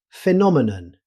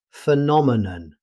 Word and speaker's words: phenomenon: Next up, phenomenon. In British English, phenomenon. However, in natural speech, the middle vowel can become very weak. Phenomenon.